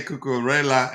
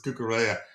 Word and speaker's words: Cucurella: Um I used to say Cucurella and he says it's Cucurella.